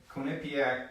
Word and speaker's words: Quinnipiac: based on it am I saying it right Quinnipiac yep Quinnipiac poll couldn't be act University pulled it I